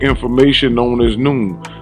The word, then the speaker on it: Noone: That is to say, correct information known as Noone. Noone pronounced Noon is the science and philosophy of NoopooH, pronounced NoopooH.